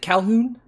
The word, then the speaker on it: Calhoun: Let's, finish it off here with Calhoun. Is it Calhoun? Yes. Okay, great. Sometimes you got like the Calhoun or something like that, silent H in there.